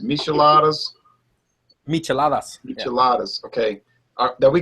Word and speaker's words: Micheladas: But there's a whole line of Micheladas, and like you said, it's pronounced Micheladas.